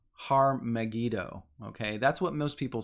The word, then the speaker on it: Armageddon: been the word like it's kind of pronounced har magido okay that's what most